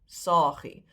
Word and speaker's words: saagie: The diminutive is still pronounced saagie with a long A, even though you've dropped one and it's spelled with one.